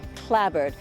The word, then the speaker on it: clapboard: It's got these houses which are clapboard, but here it's always pronounced clabbered.